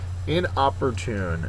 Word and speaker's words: inopportune: eradicate antonym is so in opportune and I thought this was a funny picture to choose for inopportune uh it's an adjective the last syllable the fourth syllable is accented it is coming at